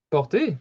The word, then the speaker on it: porter: Porter, très bien. Donc, on entend, porter, c'est aussi le ER est prononcé E. So the ER together are pronounced E.